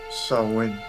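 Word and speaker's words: Samhain: the rest of it sam which is actually pronounced so when but most americans are phonetically challenged so we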